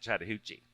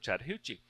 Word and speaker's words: Chattahoochee: would say the word Chattahoochee. And I actually have several people who said who actually believe that Chattahoochee was fictional, that Allan Jackson made up the word Chattahoochee because it rhymes with hoochie coochie.